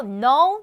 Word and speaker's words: know: know, knew, known K 발음 안 납니다.